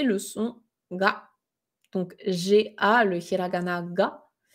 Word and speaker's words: が: En fait, le prononcer purement ga, donc comme, une gare en français, c'est pas une erreur